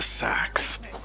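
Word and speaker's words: Seax: Find and assassinate the Sikh. Is it? I've heard it pronounced the Sax.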